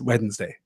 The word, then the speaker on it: Wednesday: it is odd that I I stress the D in Wednesday that is that is a three syllable word for me so yes Wednesday right good let me